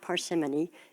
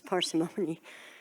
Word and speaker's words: parsimony: for a long time it's not parsimony it's parsimony and I think some of